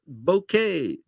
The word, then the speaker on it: bokeh: it will not get bokeh, which people tell me is the right way to pronounce it. I would prefer pronouncing it bokeh, but it's the stuff